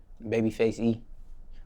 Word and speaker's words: Babyfxce E: Now, what is the correct way to pronounce your stage name? Babyfxce E.